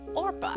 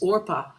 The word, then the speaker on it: Orpah: on january 29th 1954 old 4 was named Orpah which is on her birth certificate believer not